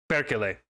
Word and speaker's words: perkele: Perkele. I gotta remember that. Emphasis on the first syllable, not the second.